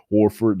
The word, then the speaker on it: Horford: Horford, that's how you say it.